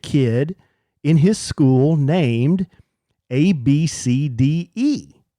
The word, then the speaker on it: ABCDE: had a legit kid in his school named A B C D E.